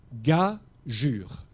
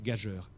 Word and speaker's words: gageure: à côté du g ça veut dire lee ga jure et il ne faut pas lire gageur mais vous comprenez que